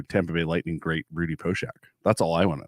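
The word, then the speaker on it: Poeschek: At least 1990s hockey pronounced it Poshak. It might be wrong, but maybe Nick will notice and give us a comment there.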